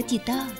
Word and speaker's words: กีต้าร์: นี่ คือ แบบ มา กีต้าร์ ก็ จะ ว่า จะ อ่าน ว่า กีตาร์ แล้ว จะ เข้า ใจ และ